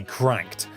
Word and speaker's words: CRKD: is the Nitro deck by cracked I checked that's how they say it this is a device